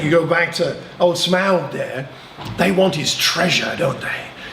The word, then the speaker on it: Smaug: How do you pronounce that even? Smaug? Smaug, okay.